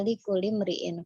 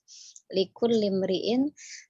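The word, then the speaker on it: لكل امرئ: Jadi penulisan itu ada tasydid pada huruf lamnya ya. Untuk membacanya wa innama likulli imri'in. Kurang ditekan sedikit, likulli imri'in.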